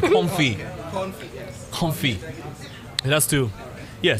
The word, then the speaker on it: confit: okay and i was ordering it as duck confit the tea is silent comfy comfy it has to yeah so anyway so